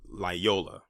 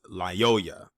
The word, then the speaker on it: Lyoya: video that i did i said la yo liola but it's lyoya y l-y-o-y-a and i did like